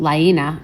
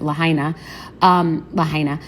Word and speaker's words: Lahaina: This is bigger than the Paradise fires, and this seems like bigger than Lahaina, if that's how you pronounce it, Lahaina.